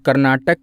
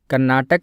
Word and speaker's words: कार्नेटिक: वाला क्षेत्र है ना, इसे कार्नेटिक रीजन कहा जाता था और हिंदी में इसका उच्चारण कर्नाटक कर दिया गया, जबकि इस रीजन को कार्नेटिक कहते थे, पर हिंदी में इसका उच्चारण कर्नाटक पड़ गया, तो इसीलिए इसे कर्नाटक का युद्ध कहते हैं।